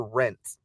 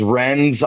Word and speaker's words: Renz: Is it Renz or Rents? I see a lot of people. Cool. We are live. It is Renz. I don't honestly know how people put in the T, and I only say that